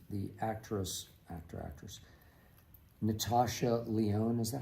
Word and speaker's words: Natasha Lyonne: All right, this is James from Buffalo, who says the actress, Natasha Lyonne, is that how you pronounce it?